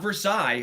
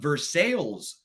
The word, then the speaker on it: Versailles: Going on a bourbon tour down there, not Versailles, which I would have thought is how it was pronounced, but Versailles.